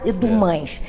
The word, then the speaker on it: Dumas: Ele falava que por volta de 1892 a 94, foi uma senhora chamada Dona Amélia Dumas. O pessoal fala Dumas, que aportuguesada é Dumães, mas se pronunciar em francês é Dumas.